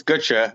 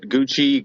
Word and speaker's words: Gutsche: Like, how do you actually pronounce it? Yeah, it's Ga. I get I get Gucci Gu.